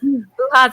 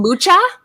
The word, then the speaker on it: Mucha: Muha's amazing. And just so you guys know, that is the right pronunciation. It's Muha. People always call him Mucha, but it's Muha. Is it Italian? It's Czech.